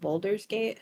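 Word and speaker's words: Baldur's Gate: been playing like they've been playing Boulders gate Boulders gate is that how you say it yes um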